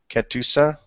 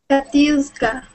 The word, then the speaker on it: Katiuska: I'm sorry, am I pronouncing your name properly? Ketusa? Katiuska.